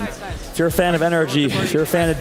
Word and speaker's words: NRG: It's supposed to be energy, but I mean, you give us you you give us an acronym NRG. We're going to say NRG over and over again, guys.